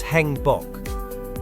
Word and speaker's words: 행복: The vowel A is a combination of A and E. Pronouncing them as one syllable, it will become E as in bed. Can you try it? Yes, it's Hangbok.